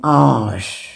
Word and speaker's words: hour: We say an hour. H is silent.